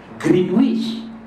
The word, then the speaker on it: Greenwich: Ejaannya Greenwich, sebutannya Greenwich. Itulah orang putih, dia tak ikut makhrajul huruf.